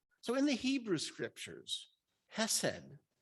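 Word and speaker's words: חסד: So in the Hebrew scriptures, Hesed, and it's actually pronounced chesed, but I'm not going to try that the whole time.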